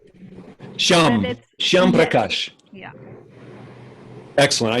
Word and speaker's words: Shyam: Yes, we say Sham. Shyam Yes.